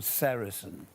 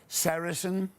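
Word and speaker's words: sericin: One of them, a very important one called sarasin. You spell that s e r i c i n. Check this on a computer. Sarrain keeps your skin hydrated. Sarasin traps moisture within your skin.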